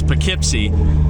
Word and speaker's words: Poughkeepsie: and if you're curious that is how it's pronounced is pipy but if you were to try to spell